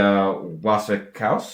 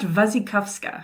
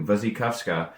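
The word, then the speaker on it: Wasikowska: The 1996 Anna Pacwin Charlotte Gainsboro Zepharelli film and the 2011 Mia Wasakowski I believe it is pronounced Vuzikovska. Thank you. Vuzy Kovska.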